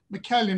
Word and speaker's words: McCallion: uh uh mckellen is that the right pronounced pronunciation that's perfect is 56